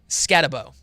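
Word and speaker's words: Skattebo: It's Cam Scatabo. Okay, Scatabo.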